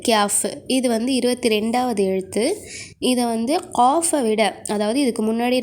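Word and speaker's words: قاف: உச்சரிப்பு காஃப். இதையும் தொண்டையிலேருந்து தான் நெரிச்சு சொல்லணும். காஃப், காஃப் மொத்தமாக சொல்லணும். ஓகே, அடுத்தது இது கேஃப். இது 22வது எழுத்து. இதை காஃபை விட, அதாவது இதுக்கு முன்னாடி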